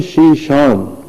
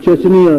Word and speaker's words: شیشان: اسی طرح ایک ریاست تھی اسلامی شیشان، جسے وہ چچنیا لکھتے پڑھتے ہیں انگریزی میں. چچنیا اس کا اصل تلفظ نہیں ہے، اصل تلفظ شیشان ہے.